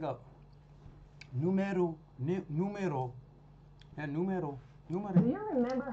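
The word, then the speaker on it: numéro: how to say number numero no okay exact same spelling as Spanish but not the same pronunciation hold on how should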